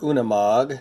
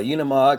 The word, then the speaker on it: Unimog: week I'm taking on the Unimog or una MOG depending upon how you want to pronounce it the Unimog came out in two